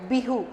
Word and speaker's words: Bihu: Pronounce it Bihu.